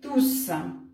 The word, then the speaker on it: tous: В данном случае мы, конечно же, будем читать крайнюю «с», произносить «с», «tous».